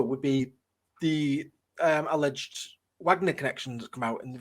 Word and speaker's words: Wagner: said the Wagner group it's not Wagner it's Wagner it's the musician is Wagner because it's German this is a Russian group so it's Wagner you can't use the German pronunciation for a working organization even though they're named